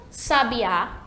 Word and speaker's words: sabiá: sabe já sabe a já a sílaba tônica é a última né o sabiá que